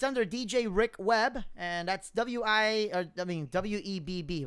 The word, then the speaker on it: Weber: It's DJ Rick Webb.